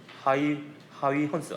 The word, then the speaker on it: 하위헌스: 옛날에는 호이겐스라고 했는데 요새는 하위헌스. 발음이 잘 안 돼요.